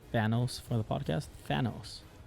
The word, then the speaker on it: Thanos: Thanos. Okay. Yeah, because I sometimes mispronounce the TH.